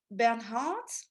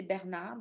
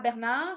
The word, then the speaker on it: Bernhardt: Alors, the last one is Sarah Bernhardt. So I know in English you say Bernhard, but in French we say Bernard because we don't pronounce the H. Sarah Bernard. So Sarah Bernard, it's really the lesson